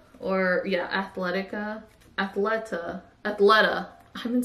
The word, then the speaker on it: Athleta: Then, as you guys saw, I got this really cute piece from Athleta, or yeah, Athleta, Athleta, Athleta.